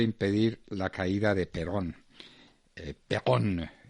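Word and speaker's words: Péronne: Perón, se escribe Peronne.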